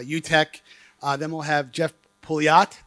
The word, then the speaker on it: Pouliot: Then we'll have Jeff Pouliot. Did I pronounce it properly, Jeff? Nailed it. I nailed it.